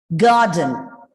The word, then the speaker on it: garden: closes here garden garden the r is silent because it comes just before a consonant sound okay so it's garden